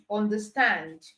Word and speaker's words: understand: If the compound word is a verb, all right, it most likely means that the stress is on the second syllable.